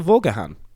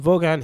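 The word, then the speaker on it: Vaughan: wrong as well it's when they go hello um is that Mr vahan and I'm like no is that Mr vahan I'm no no Mr vogan here he oh oh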